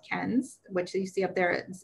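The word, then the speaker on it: Cairns: um a destination called ken's which you see up there it's pronounced nothing like it's spelled um but that is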